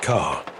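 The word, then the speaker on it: 空: Pronounced ka, it is a character heavy with Buddhist meaning,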